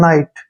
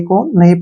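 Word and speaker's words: knee: ई अब यहां पर एन से पहले फिर के आ गया तो के को हमने नहीं पढ़ना है एन का उच्चारण न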